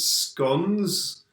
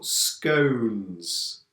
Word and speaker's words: scones: is this word yeah there are two pronunciations scones for some people or scones for other people now this is a